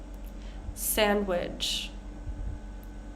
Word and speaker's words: sandwich: Sandwich. Handsome. Edge. Bridge. One more time. Wednesday. Sandwich. Handsome. Edge. Bridge. So with sandwich and handsome, we don't say sandwich and we don't say handsome.